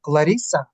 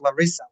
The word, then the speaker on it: Larisa: but like for example L Larisa not Larissa Larisa he does because she's Brazilian you have to pronounce this slightly differently so she does